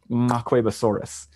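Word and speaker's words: Nqwebasaurus: And I forget the dialect that it's in, but it has a click in its name. And I believe it's pronounced Macquebosaurus.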